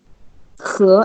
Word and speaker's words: 河: And river, how to pronounce this? 河. He, exactly.